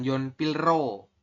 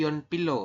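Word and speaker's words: 연필로: dibacanya y Po ya bukan Yon pilro tapi Yon Pilo masih ingat ya kalau ada di akhir ketemu R lagi sampingnya keduanya dibaca l Yon Pilo Seo Seo itu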